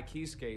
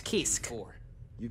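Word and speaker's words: Kiske: all the time besides right now king kai kisuke is officially out on an expedition that's how it's pronounced this time i merely said that i planned to make my family i thought it was kiss you could at least pretend to play nice with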